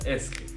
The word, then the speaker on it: est-ce: Est-ce, like actually it is pronounced as est-ce.